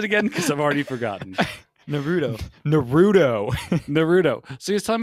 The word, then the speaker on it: Naruto: i'm pronouncing that wrong won't how do you pronounce it again because i've already forgotten naruto naruto naruto so he's talking about naruto i'm